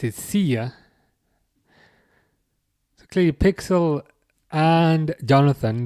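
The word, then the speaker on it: Szia: Oh, Sia as in that's how you pronounce it, right?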